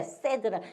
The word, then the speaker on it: said: 이렇게 세드라 세이드라고 안 해요. 세드라고 읽어요.